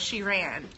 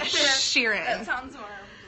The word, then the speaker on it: Sheeran: Sheeran is which I figured out how to pronounce his name ok it's not she ran she read Sheeran you guys he is the cutest singer he